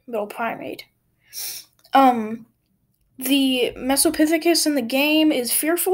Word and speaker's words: Mesopithecus: it's pronounced and i can say that it's pronounced mesopithecus um it means middle monkey or middle ape i should say little primate um the mesopithecus in the game is fearful of humans which